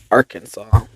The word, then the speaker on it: Arkansas: with the addition of two simple letters, is pronounced Arkansas.